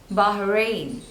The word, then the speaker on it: Bahrain: Bahamas next one is Bahrain again there are two syllables and the stress is on the second one Bahrain Bahrain Bahrain next